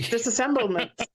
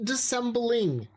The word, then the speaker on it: dissembling: Ah, I can see disassemblement or whatever. Michael mispronounced disassemble. No, it's dis dissembling.